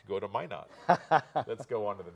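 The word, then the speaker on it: Minot: not why not yes that's out of crew pronounce it at least and i'm trying to remember so why not go to my not let's go on to the next one so that's my not again and we have in the next view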